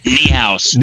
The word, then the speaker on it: Niehaus: Doug Ninhus. Niehaus. It's Niehaus.